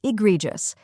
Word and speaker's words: egregious: correct pronunciation is egregious let's break it down first we have IA which sounds like the i in bit next is gree which rhymes with tree and is stressed then comes J which sounds like just injust now let's put it